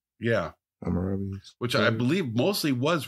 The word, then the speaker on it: Hammurabi: It's how do you pronounce it? Hammurabi? Yeah. Hammurabi.